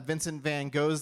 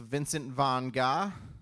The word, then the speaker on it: Vincent van Gogh: Speaking of names, in elementary school, I also learned that Vincent van Gogh's name is actually pronounced Vincent von Gogh.